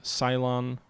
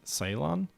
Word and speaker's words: Ceylon: army here on the island of cylon not cylon I know it's not pronounced that Ceylon Sri Lanka is that's better that